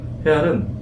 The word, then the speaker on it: 헤알: 레알 마드리드의 레알이나 헤알화의 헤알이나 같은 단어입니다. H자를 무궁으로 쓸 것이냐 발음을 할 것이냐의 차이일 뿐입니다.